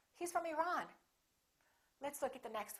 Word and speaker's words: Iran: say iran or iran it should be the second one he's from iran he's from iran let's look at the